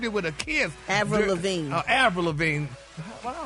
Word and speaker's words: Lavigne: Avril Lavigne. Avril Lavigne. Why do I always say You said Avril Lavigne. Avril Lavigne. G is silent. It's silent.